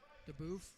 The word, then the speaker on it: DeBoof: Thank you, Girl Markia, for letting me know you pronounce that DeBoof. We have another family close by that they pronounce it DeBoof. Same spelling.